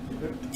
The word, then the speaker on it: Earp: Is that how you say it? Yeah, that's correct. Earp.